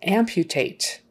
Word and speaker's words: amputate: she has amnesia so amputate okay we've got that u in the middle of the word and it's surrounded by consonants so there's kind of a y sound in front of it amputate not amputate